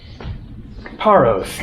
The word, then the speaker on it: Paros: that end in S, Paros, Naxos, Milos, Eos, Andros, Telos, Tinos, Amorgos, there are tons of them. In Greek, they don't pronounce the S. It is Naxo, Paro, Andro, Tilo, Tino, Amorgo, etc.